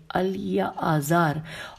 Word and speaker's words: الیعازار: اس کے بعد ہارون کے 2 بیٹے الیعاز اور دوبارہ سے ہجے کر لیتے ہیں. الف لام یہ عین الف زے الف رے الیعازار اور اتبامار الف تے بے الف میم الف رے.